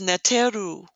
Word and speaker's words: neteru: plural three flagpoles together this is pronounced neteru or natural the U on the end represents plurality the u sound is